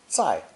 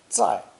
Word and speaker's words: 在: right here and now this character is pronounced fourth tone zai zai with sai phonetic and